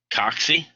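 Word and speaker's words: cocci: Coxy, that's how you pronounce that word, coxy, or coxiform is a shape that's spherical, round like a circle.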